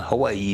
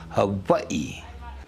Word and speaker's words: Hawaii: And just like you say Hawaii, but it's not Hawaii, it's Hawaii. But when you pronounce it, it's with a V.